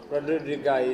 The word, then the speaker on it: Randigai: Randigai it is. I think that's the correct way of pronouncing it.